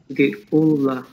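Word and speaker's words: גְּאֻלָּה: That's ge, u, Geula. Geula, yes, yes. This means redemption. Redemption. Geula. Accent on the end.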